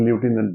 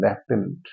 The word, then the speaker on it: lieutenant: ल्यूटिनेंट लिख रहा है, बहुत से लोग ल्यूटिनेंट बोलते हैं, लेफ्टिनेंट, ठीक है।